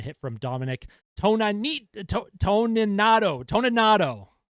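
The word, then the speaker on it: Toninato: Toninado, Toninado, that's how you say his name.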